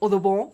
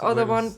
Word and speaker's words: Audubon: Bueno, entonces Audubon, de hecho, tiene una, seguramente lo estoy pronunciando mal, seguramente es Audubon, porque su padre era francés.